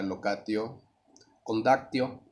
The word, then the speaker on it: locatio conductio: Esta en particular, la pronunciación sería locatio condactio. Algunos cambian por ahí el acento en uno u otro lado.